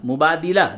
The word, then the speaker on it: مبادلہ: مبادلہ، مبادلہ دال زیر دی ہے، یہ مبادلہ یعنی چینج کرنا، ایکسچینج یعنی بدلنا.